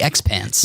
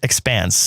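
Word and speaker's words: The Expanse: network's it was actually from sci-fi oh the X pants yes it's pronounced expanse CX pants X pants it's not okay um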